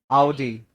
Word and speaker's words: Audi: So the 3 words here are called as lasagna, Wednesday, and Audi. Audi. Audi नहीं, ओडी तो बिल्कुल नहीं, ठीक है? Audi.